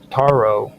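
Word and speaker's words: taurobolium: The Toro, no, the torobolum, which is spelled T A R O B O L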